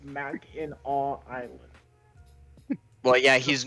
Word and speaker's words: Mackinac: you will know that this popular north michigan destination is correctly pronounced mac in awe island well yeah he's